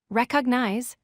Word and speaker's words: recognize: It has 3 syllables, recognize. A common error is stressing the wrong syllable. Place stress on the first syllable, recognize.